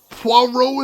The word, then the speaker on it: Poirot: Is it Puro? I thought I've heard it pronounced Puro. I could be wrong though. This is America. We pronounce things wrong here as a national pastime. Poirot is roughly correct.